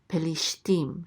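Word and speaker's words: פלשתים: And this is a tav with a chirik, and the yud together say ti. And then the mem sofit closes that syllable out to say tim. Pelishtim.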